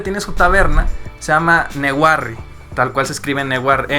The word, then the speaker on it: Newarre: Por ejemplo, la ciudad donde tiene su taberna se llama Newarre. Tal cual se escribe Newarre. N-E-W-A-R-R-E. Neguarros. Newarre. Pero, por ejemplo, lo divertido es que cómo se pronuncia eso en inglés. Nowhere.